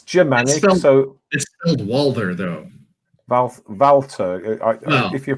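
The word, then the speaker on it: Walther: on sir well the PPK is that pronounced Walter well it's it's Jim and also Walter though valve valve if you're pronouncing it properly if I've only seen that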